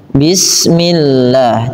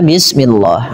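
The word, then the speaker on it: بسم الله: Bila huruf, maaf lafal Allah didahului dengan kasrah, maka dibaca dengan tipis bismillah, tidak dibaca bismillah. Hati-hati, mungkin sebagian kita ada yang terbiasa melafalkan lafal Allah dengan menebalkannya. Pada dasarnya dia tipis.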